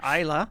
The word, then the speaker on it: Islay: Pronunciation, Islay.